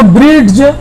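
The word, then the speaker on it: bridge: के पहले क्या आया है यहां पर वह साइलेंट होगा इसको ब्रिज ब्रिज प्रॉब्लम नहीं है वरना यहां पर डिश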